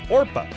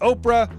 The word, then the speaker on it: Orpah: that's not a misspelling her given name was orpah a reference to the biblical figure in the book of ruth as a baby people regularly mispronounced the name as oprah which eventually stuck when she was six